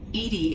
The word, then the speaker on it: EDI: a specific inquiry why are you named edie edie is the phonetic pronunciation of edi that is an acronym for